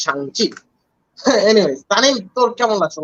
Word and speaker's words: Shang-Chi: in fact, pronunciation our problem হচ্ছিল because I wasn't really sure how to pronounce Shang-Chi, but apparently it's pronounced Shang-Chi.